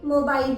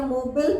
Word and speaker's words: mobile: MOBILE, इसको हम normally मोबाइल बोलते हैं, जो कि बिल्कुल सही है। पर कुछ लोग मोबाइल या मोबिल भी बोलते हैं। मोबिल, ये भी गलत नहीं है। मोबाइल इसका यूके प्रोनाउंसिएशन है और मोबिल इसका यूएस प्रोनाउंसिएशन है।